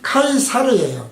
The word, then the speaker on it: 카이사르: 여기서 이제 시저에 대해서 좀 더 우리가 역사적으로 설명을 하면은, 시저라는 이름은 로마식 발음이에요. 그리고 그 그리스어로는 카이시로스예요. 카이시로스. 그리고 고전 라틴어 발음은 카이사르예요. 카이사르. 우리가 케자르 그러지 않습니까? 근데 우리말에는 카이사로 설명을 해놨어요.